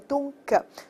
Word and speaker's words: donc: 那给一个词儿叫做 donc，注意 c 要发音 donc，因此怎么样。